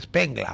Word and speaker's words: Spengler: Vea, hace ya más de 100 años, el filósofo alemán Oswald Spengler, que seguramente en alemán se pronuncia Spengler, porque la ER creo que suena A, creo, yo no sé alemán, escribió un libro famosísimo que se llama La decadencia de Occidente.